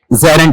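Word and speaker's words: gerund: और इसका उच्चारण ज़ेरंड है या ज़ेरंड? जरंड है।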